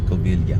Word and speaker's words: Covilhã: Yeah, it's the first syllable. Coil first. Coil. Yeah. Coily.